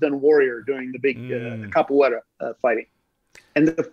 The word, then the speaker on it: capoeira: that we used on Warrior during the big capoeira fighting. And the correct pronunciation is capoeira. Capoeira? Yes, the fighting style, the Brazilian fighting style is called capoeira.